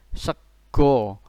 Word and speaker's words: sego: Segu tidak ada dalam bahasa Jawa maupun bahasa Indonesia, ini sama dengan sego. Jadi memang tulisannya segu tetapi bacanya sego.